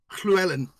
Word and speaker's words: Llewellyn: crazy language and uh I can pronounce the Double L go for it I want to hear it Llewellyn very very good it's